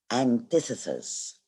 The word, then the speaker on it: antithesis: This is how we pronounce it, antithesis.